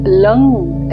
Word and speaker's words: लं: हमें पृथ्वी तत्व पर ध्यान करना है और लंग एल एन जी लंग शब्द का मंत्र का उच्चारण बजाकर मंत्र का उच्चारण करना है और